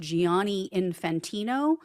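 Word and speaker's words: Gianni Infantino: The FIFA president, his name, I believe, is pronounced Giani Infantino.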